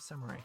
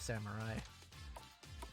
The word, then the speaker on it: samurai: helmets for everyone somewhat i have been using the english pronunciation of samurai whereas in japanese would be samurai again it's just a difference in that case it's just the difference of using the japanese r versus the english are uh i don't actually